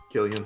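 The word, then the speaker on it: Cillian: uh silly and murphy is that how you pronounce his name killian yeah yeah yo he was a really great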